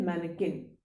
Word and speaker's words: mannequin: इन्हें कहा जाता है मैनेकिन और इसकी स्पेलिंग होती है MANNEQUIN।